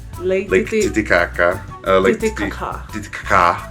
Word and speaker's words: Titicaca: Titicaca. That's how you pronounce it. You're not supposed to pronounce it the other way. That's the wrong way.